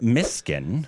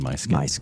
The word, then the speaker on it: Mysskin: Let uh let us know what our next Mskin. I believe that is the correct pronunciation. I'm sure I've missed it multiple times. I think I've said my skin multiple times. It just sounds like my skin. It looks like it. It looks like my skin.